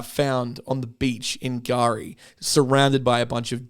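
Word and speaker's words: K'gari: suspected dingo attack on Gari. In the past, I've pronounced this island as Kagari. Uh but it's but it's um it's not Kagari.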